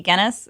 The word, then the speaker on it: Gennis: At Gennis, spelled like tennis, not the beer.